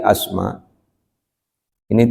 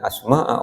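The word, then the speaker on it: أسماءَ: Dari asma ini tidak bisa dibaca min asmai karena ini isim alam ghairo munsarif. Jadi nama benda yang tidak memiliki tanwin tidak bisa dikasrahkan meskipun kemasukan huruf jar. Jadi dibacanya tetap fathah tapi fi mahali jarin di tempat jer bapak ibu ya. Jadi bukan salah baca bisane bacanya min asmaa ora min asmaai kecuali tanwin menjadi asmain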